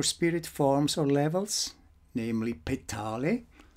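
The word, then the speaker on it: Petale: forms or levels namely pet Holly not ptoey ptoey the crown of creation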